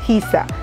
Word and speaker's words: Giza: Y sí, este lo cogí en el tono Giza 540, creo que así se pronuncia, Giza, G-I-Z-A.